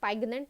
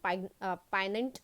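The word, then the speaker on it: poignant: So पाइनेंट, एंड पाइनेंट यहाँ पर ये जो जी होता है साइलेंट होता है, इसे पाइगनेंट नहीं पाइनेंट प्रोनाउंस किया जाता है।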